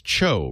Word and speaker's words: TCHO: This is Cho, right? Is that how you say it, right, Fred?